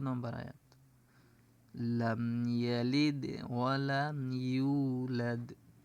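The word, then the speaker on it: يُولَدْ: আয়াত লাম ইয়ালিদ ওয়ালাম ইউলাদ ইউ এখানে কিন্তু মুখ গোল হবে ইউলাদ এখানে এক আলিফ টান আছে মুখ গোল হবে দ্বিতীয়ত একালি টান আছে এখানে লাম ইয়ালিদ ওয়ালাম ইউলাদ লাম ইয়ালিদ এখানে কিন্তু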